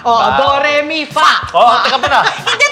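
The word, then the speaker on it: phở: At ang pronunciation nga daw nila is fa. Akala ng mga Pinoy, fo. Kasi ang Diba? spelling niya P-H-O. Ah. But it's pronounced fa.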